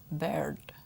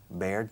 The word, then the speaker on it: bird: Bird. Baird? No. Bird.